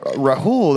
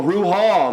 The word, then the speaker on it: Rahal: Yeah, it's Jamal Rahal. It rhymes. I was like, oh, Rahul.